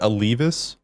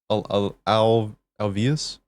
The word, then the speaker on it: Alveus: Is it Alvis? Alvius? I would How would you say pronounce it? Alveus or Alvius Alveus.